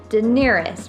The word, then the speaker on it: Daenerys: Daenerys, right?